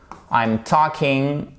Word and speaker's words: talking: alors ceci est un talking on prononce pas le l c'est pas talking et ici c'est un